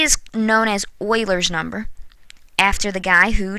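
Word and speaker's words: Euler: e is known as Oiler number after the guy who discovered it Oiler and I know it's spelled uler but it's pronounced Oiler and E is approximately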